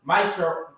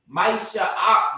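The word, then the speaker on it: מעשר: chapter 3 verse 8-10 which means 10th and Hebrew is pronounced my sir Maisha Maisha Rock right 10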